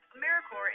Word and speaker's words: AmeriCorps: AmeriCorps is alive and well, just spelled with a silent P. So think of Apple Corps or Core of the Earth.